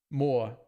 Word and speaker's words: Moor: Croaks is going to correct my pronunciation of Moor. What are we doing? Moor? Moor? Moor? Educate me. Let's play some spins on break, shall we? More. More like more.